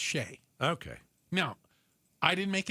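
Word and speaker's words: Chelly: C H E L L Y is pronounced Sheay.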